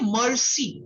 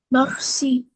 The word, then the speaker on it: merci: They say mercy. It is me.